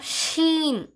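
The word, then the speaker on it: ش: சா சா சா அடுத்த எழுத்து பாத்தீங்கன்னா சீன் சீன் சீன் சீன் அடுத்த எழுத்து பாத்தீங்கன்னா ஷீன் ஷீன் ரெண்டுத்துக்கும் வித்தியாசம் தெரியுதா அது சீன் இது ஷீன் இந்த ஹாக்கும் ஷீனுக்கும் காத்து வந்து வெளிய வரணும் ஃபுல்லா.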